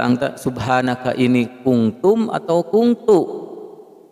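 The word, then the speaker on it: كُنْتُ: Ada yang bertanya, di kalimah La ilaha illa anta subhanaka ini kuntum atau kuntu? Dibacanya kuntu ya, bukan kuntum. Kalau kuntum beda, jadi artinya jamak.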